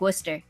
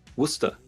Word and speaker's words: Worcester: Like Worcester. Worcester.